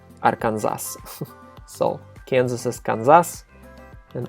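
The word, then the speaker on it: Арканзас: And yeah, in Russian we don't honor the special pronunciation of the state in English, so we just say Arkansas.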